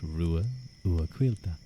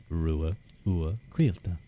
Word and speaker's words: Ruadh: in name pronunciation H well my name was pronounced Ru uila Ru U quila it was really funny watching that myth guy